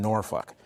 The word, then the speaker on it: Norfolk: He was in Norfolk, which has a very large veteran population, but also African-American population. That's how you pronounce it.